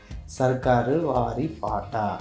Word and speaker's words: சர்க்காரு வாரி பாட்டா: padam peru vandu Sarkari Vaari Paatu Paatu Paata சர்க்காரு வாரி பாட்டா அப்படின்னு தான் இருந்துச்சு. இப்படிதான் நாங்கள் கரெக்டாக ப்ரொனவுன்ஸ் பண்ணுறோன்னு நினைக்கிறேன்.